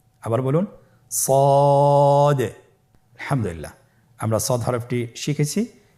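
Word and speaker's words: ص: তাহলে আপনারা জিহ্বার আগা, সামনের নিচের 2 দাঁতের পেট ও আগার সঙ্গে লাগিয়ে উচ্চারণ করুন সদে। আবার বলুন সদে।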